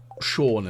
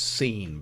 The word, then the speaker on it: Sean: class, and I pronounced Sean as seen because, of course, it's written like Sean Bean's Sean in the book, and